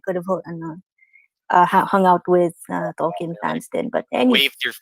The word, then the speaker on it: Tolkien: a screening of Tolkien, well, it's pronounced as Tolkien, by the way. Tolkien. Yeah, Tolkien.